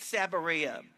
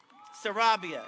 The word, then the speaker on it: Sarabia: like to acknowledge is Keith sabaria Sarabia excuse me Sarabia thank you for telling